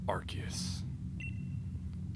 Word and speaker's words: Arceus: I am that which humans call Arceus. Apparently confirmed that is how you pronounce it.